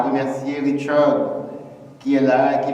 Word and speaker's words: Richard: Il faut bien prononcer le nom, c'est Richard.